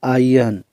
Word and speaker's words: iron: IRON इसका जो pronunciation होता है वो होता है आयन।